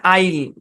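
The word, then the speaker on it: isle: সাইলেন্ট কোন rule নাই এস টা যদি সাইলেন্ট হয় তাহলে এই শব্দের উচ্চারণ হচ্ছে আইল কি উচ্চারণ আইল আইল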